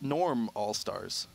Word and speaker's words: Normal Stars: Stars game number one and pronounced Norm All Stars we just call them